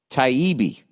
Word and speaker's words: Taibbi: Check out Matt Taibbi's book, Hate Inc., pronounced Taibbi. Okay. TIE-EE-BEE.